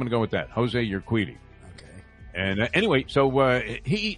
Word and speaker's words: Urquidy: Jose, it's Urquidy. Not exactly Ron Guidry, but Urquidy. Okay. I'm going to go with that. Jose Urquidy.